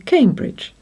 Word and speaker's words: Cambridge: Now, this one should say Cambridge, especially as the bridge is over the River Cam. The chances are that we used to say Cambridge, but over time it has changed to Cambridge.